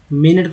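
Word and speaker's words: minute: मिनट को बोलते हैं मिनट, मिनट। यू का उच्चारण पर आ के रूप में हुआ है इसलिए मिनट।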